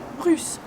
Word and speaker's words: russe: D'origine russe. The same U sound.